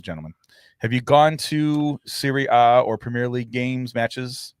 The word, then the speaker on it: Serie A: Why Serie A? That's just A, but the Italian pronunciation.